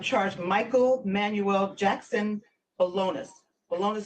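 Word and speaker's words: Bolaños: Bolonis spelled Bolanos.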